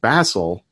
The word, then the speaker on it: Basel: at least the research my last name is actually pronounced Bassel in another country of Switzerland which is actually the